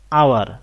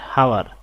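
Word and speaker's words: hour: I have made an আওয়ার late, এখানে উচ্চারণটা হলো আওয়ার নট হাওয়ার, আওয়ার, একটা ভাওয়েল সাউন্ড আসছে, এই কারণে আমরা বসিয়েছি এন।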